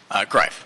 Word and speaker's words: Grief: Grief. Grief, sorry about that. No worries. You can rhymes with life, if that helps.